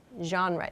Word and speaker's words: genre: Genre is the pronunciation of this word.